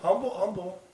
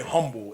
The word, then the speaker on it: Humble: Humble. You do not say humble. It is humble, Texas. That H is silent.